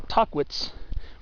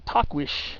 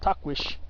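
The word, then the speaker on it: Tahquitz: yeah that's I believe how you're supposed to pronounce it most people say talk it's or tuckwits but it's supposed to be takwish takwish but yeah uh so that's not the point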